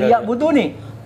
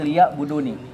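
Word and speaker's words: لِيَعْبُدُونِ: jinna wal insa illa liya'buduni. Jadi kalau yang bagus bacanya itu di situ ada nun yang menunjukkan kepada mutakalim. Ya. Liya'buduni meskipun pendek. Ya, kalau kalau bisa tuh bukan liya'budun saja tapi liya'buduni.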